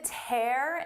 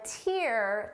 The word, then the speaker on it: tear: Listen to the difference. Seeing the tear in my shirt brought a tear to my eye. First, we have tear. You can tear a piece of paper.